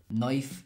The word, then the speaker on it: knife: Knife is spelled knife, K-N-I-F-E. You know that this isn't really how they're pronounced, but it helps you remember the correct spelling.